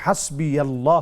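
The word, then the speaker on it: حسبي الله: হাসবুনাল্লাহু ওয়া নি'মাল ওয়াকিল, তারপরে হাসবি আল্লাহু লা ইলাহা ইল্লা হু, এই কয়েকটা এখানে কথা হাসবি আল্লাহ মানে যে উচ্চারণটা জানতে চেয়েছেন, এটা হচ্ছে হাসবি আল্লাহ হবে, আর হাসবুনাল্লাহু ওয়া নি'মাল ওয়াকিল এটা ঠিক আছে।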